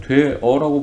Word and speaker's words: 되어: 이거 발음 어떻게 합니까? 우리는 되어라고 발음합니다. 그쵸? 근데 어떤 사람들은 그렇게 되어 라고 발음하는 사람들도 있습니다. 그쵸? 그런데 맞춤법에서 이렇게 발음하는 것이 원칙인데 이렇게 반모음을 첨가해서 여가 되는 것도 허용한다라고 얘기가 나오는 거죠.